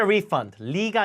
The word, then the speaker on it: refund: 크게 따라해 보세요 환다 get a refund가 아니라죠 re 바른 강 세편 강의에서 했죠 refund 힘 줘요 get a refund 받다